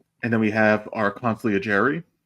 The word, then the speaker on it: consigliere: We have the editor-in-chief of the Strickland himself, Alex Wolf, and then we have our consigliere, right? Isn't that how you pronounce it? Consigliere.